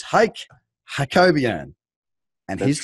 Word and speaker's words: Hayk Hakobyan: It's Hayk Hakobyan.